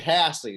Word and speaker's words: Hahsey: is, you say it Hahsey, like it rhymes. My dad likes to joke. It rhymes with classy, and you don't pronounce the second H, but that H, Ah, and okay.